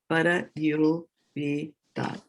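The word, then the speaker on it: परयोपेताः: No, Para yo pe. per. It's pe, not per. No, Okay. it is pa, para yo pe. This one is pe, yeah. This one is pe and this one is pa. Pa pe. Para yo pe tas.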